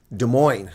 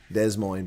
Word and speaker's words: Des Moines: Des Moines. Oh, that's not how it's spelled, but I know what you meant. Des Moines. Okay, it's 2 words. Des Moines. Des Moines, but they call it Des Moines.